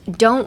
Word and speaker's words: don't: And last don't worry. Don't worry. Again, drop the sound of the T. Don't say don't worry. Say don't worry. Don't. Uh, imagine you have something under your tongue.